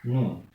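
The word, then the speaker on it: ن: La lettre Noun, qui correspond à la lettre N dans l'alphabet français.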